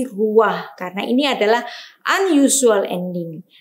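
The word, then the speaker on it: רוח: Nah, ini membacanya bukan ruha, tetapi membacanya dengan ruah. Ya, bukan ruha, tapi ruah.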